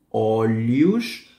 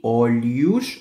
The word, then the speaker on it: olhos: Rosto, olhos, el H suena como LI, olhos, o al final es una U, y la S del final, SH, olhos, orelhas, nariz, boca.